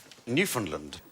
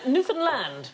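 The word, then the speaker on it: Newfoundland: is this island called Newland yeah I'm going to have to shoot you now uh no it isn't the correct pronunciation Newland hey hey enough violence on this show um Newan land is the correct pronunciation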